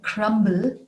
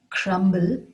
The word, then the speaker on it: crumb: be broken in english isn't it strange that we would pronounce the b in crumble crumble but leave it out in crumb crumb you might wonder why